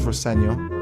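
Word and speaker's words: Rosenior: My dad says Roseno, which is is the way to pronounce it.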